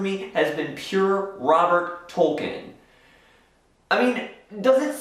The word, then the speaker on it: Tolkien: And by the way, it's Tolkien. The E is silent. Or the I, however you want to look at it.